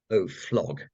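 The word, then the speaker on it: Oflog: have a new Watchdog off log it can of course be pronounced o flog which I think is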